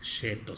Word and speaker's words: Cetto: los que quieran tener se escribe seto ahí está con doblete y sea el inicio pero sin mi italiano no me falla es cheto se pronuncia bueno pues la verdad